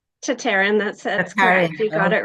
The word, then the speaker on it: Tataryn: to introduce you and welcome uh tatarin how how is that correct how to pronounce tatarin that's you got it right yes welcome